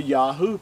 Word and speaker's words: Yahu: Yod, He, Uah. That's how you get the Yahu part.